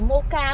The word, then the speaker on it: mocha: Ai smoke mocha hay mocha, chắc đọc là mocha quá ha. CH thì đọc là chữ cờ ha.